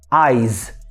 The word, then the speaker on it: eyes: pronúncia é ai ai já o plural de ai é com som de z quer Aires Aires por isso que tem